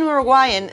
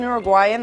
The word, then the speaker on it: Uruguay: Martina Musso says, as an Uruguayan, the way you say Uruguay made me cringe.